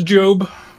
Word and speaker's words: Gob: yeah that's that's that's job it's spelled Gob and everyone just calls him Gob but it's it's it's job it is job yeah do we know